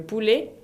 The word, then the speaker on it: poulet: Ahora, los tipos de carne son le poulet es el pollo, le poulet con una T final qui ne se prononce pas, donc le poulet, la viande es la